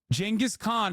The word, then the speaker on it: Genghis Khan: Genghis Khan is how you say it, you fucking idiots.